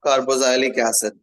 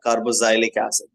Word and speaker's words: carboxylic acid: with the nomenclature of carboxilic acid or carboxilic acid whatever you want to say both pronunciation is good just because we are Indian we are using carbo carboxilic acid while in the foreign extent it's like carboxylic acid everyone in the foreign